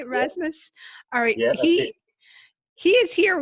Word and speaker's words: Rasmus: Rasmus I guess I should check on the pronunciation of your last name is I haven't say Rasmus alright no he he's here with us from